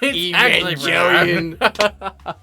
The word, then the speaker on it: Evangelion: Ghost just materializes and be like, it's actually pronounced Evangelion.